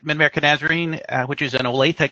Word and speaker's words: Olathe: I'm at Mid-America Nazarene, which is in Olathe, Kansas. That is how you say that. We hear a lot Olathe if you haven't been here before, but we're in the Kansas City area.